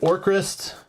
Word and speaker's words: Orcrist: So I have Orcrist.